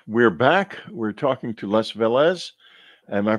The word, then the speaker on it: Les Velez: We're talking to Les Velez. Am I pronouncing your name correctly, Les?